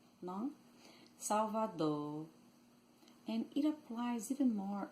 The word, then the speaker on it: Salvador: The R sometimes sounds very light or weak at word end. It loses its vibration and almost disappears. So instead of saying Salvador, Salvador, or Salvador, they